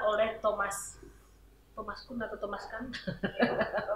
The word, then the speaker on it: Kuhn: Di sini akan kita bahas yaitu yang pertama dari apa yang dikatakan oleh Thomas Kuhn atau Thomas Kuhn bacanya ya, ya gitu ya.